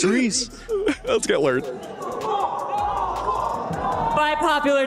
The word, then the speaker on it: Rise: I thought you were going to say that Rise wasn't Rise. He's Rize. Oh, yeah. I was like, oh, please. It's Reese.